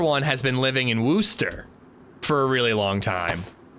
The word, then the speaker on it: Worcester: It's Worcester. It's spelled like Worcester, but it's Worcester.